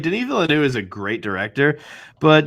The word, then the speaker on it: Denis Villeneuve: oh my gosh, I'm going to pronounce his name wrong. No, you got it. Come on. Denis Villeneuve. Denis Villeneuve.